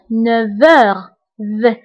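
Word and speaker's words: neuf heures: انتبهوا للنطق فقلت 9 heures V. نطقت لا لتر V مع أنه ما مكتوباش لأنه عندي لا liaison entre F et H.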